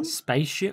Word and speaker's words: Spatium: Spatium?